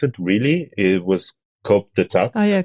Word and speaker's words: coup d'état: That in 1970, with I don't know how to pronounce it. Really, it was coup d'état Oh, yeah, coup d'etat.